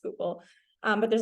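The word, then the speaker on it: Schuylkill: to pronounce names and one of them is skookul which is spelled like a crazy I'll have Mark put it in the group chat but like you'd never guess it was pronounced skookul um but there's like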